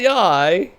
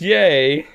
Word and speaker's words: Yae: It's not yai. It's yay.